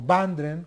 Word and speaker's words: Bundren: En primer lugar me voy a referir a Adi Bundren, o Bandren, como se pronuncia en inglés.